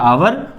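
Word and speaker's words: hour: नहीं पढ़ते हैं, जनरली हमारे बच्चे हावर पढ़ लेते हैं, हावर, और जो कि गलत हो जाता है, ये लिखा है आवर, तो ये है गलत। और जब ये गलत है तो इसका सही प्रोनाउंसिएशन है आवर, और तो आवर में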